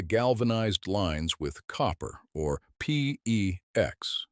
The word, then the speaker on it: PEX: That means replacing the galvanized lines with copper, or PEX. PEX rhymes with flex.